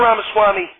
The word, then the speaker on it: Ramaswamy: to move on to Mr ramaswamy Herman rhymes with pastrami hooks thank you Mr Trump Mr ramaswamy your thoughts on the